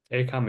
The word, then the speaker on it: ACAMH: ACAM is spelled ACAMH.